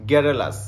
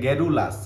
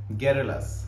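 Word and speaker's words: garrulous: আচ্ছা এটা হচ্ছে আপনার গ্যারেলাস গ্যারেলাস হ্যাঁ প্রথম স্টার্টিং এ আপনাকে দেখলে মনে হবে কি এটা গেরুলাস কিন্তু এটা গেরুলাস না উচ্চারণ কি গ্যারেলাস ঠিক আছে গ্যারেলাস রু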